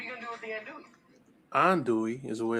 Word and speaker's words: andouille: and what are you gonna do with the andouille is the way it's pronounced and that's not what that is okay